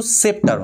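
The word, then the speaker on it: sceptre: Two home I live অর্থাৎ যার কাছে আমি রেখে যাব দা সেপ্টার উচ্চারণটা কিন্তু সেপ্টার হবে।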